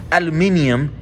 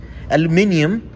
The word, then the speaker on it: aluminium: comes in this extruded aluminum aluminium case for those you guys from the uk that like to point out that i you know i'm not saying it correctly aluminium box or aluminum box for the rest of us um it's this model